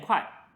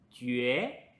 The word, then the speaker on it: 决: 好，我们下一个字不念快，它叫决。决，决的意思是 determined 或者 to decide，它的发音跟觉得的觉完全一样，但你别